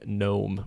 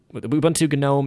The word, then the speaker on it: GNOME: here, the graphical interface, Apparently that's supposed to be pronounced GNOME, but I also hear plenty of people saying no, it's supposed to be said GNOME. So it's like argued or something whether it's GNOME or GNOME.